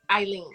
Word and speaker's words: Aline: Is that how you pronounce Eileen? Okay. Eileen and the Blue Bottle.